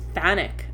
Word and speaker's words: chthonic: The word is pronounced Thanic, I believe. Thanic. But it's spelled CHTHONIC.